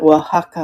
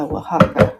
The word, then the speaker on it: Oaxaca: And I'll have to remember Oaxaca, Oaxaca.